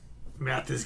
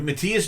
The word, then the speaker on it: Matthias: All right, Mathis Jabs. Did I say it right, Matthias Jabs. Matthias. I always want to say Mathis. Some people say Matthias.